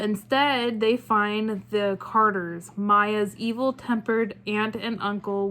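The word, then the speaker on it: Maia: rubber Plantation in Brazil Maya is pronounced is spelled m-a-i-a Maya must leave her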